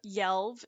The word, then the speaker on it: yelve: fork or garden fork the pronunciation of yelled is basically yell with a V yell an example of